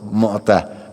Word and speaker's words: Mu'tah: Akan tapi ini ada satu peristiwa yang namanya Ghazwah Mu'tah, ya. Bukan Mut'ah, ya. Ada Mu'tah, ada Mut'ah. Hanya ada yang tahu Mut'ah? ada yang kawin muda gitu, ya, pernah dengar apa? Ya, ini salah pengucapan. Ini namanya Mu'tah, ya, Ghazwah itu peperangan.